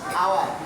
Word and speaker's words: hour: দেখো dash আওয়ার, HOUR, দেখো এই জায়গায় এইচ এর উচ্চারণ হয় না।